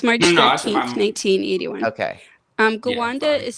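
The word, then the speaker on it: Gwanda: it is it's March 13th 1981 okay um Ganda is spelled g w a n d a it's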